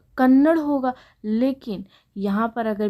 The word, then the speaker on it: कन्नड़: हो जाएगा जो कि हमारा क्या है अशुद्ध कन्नड हमारा क्या है ये अशुद्ध रूप है तो